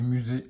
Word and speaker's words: musée: On retrouve le mot outil déjà et le mot visiter et musée avec la lettre S qui se prononce Z.